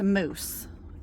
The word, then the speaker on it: mousse: three so this is I think it's pronounced moose no I mean wait yeah like mousse like hair I don't know mousse